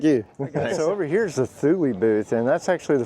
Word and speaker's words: Thule: Am I saying that right? It's Thule. Thule, okay. Thule, yep. All right, I've been saying it wrong for years.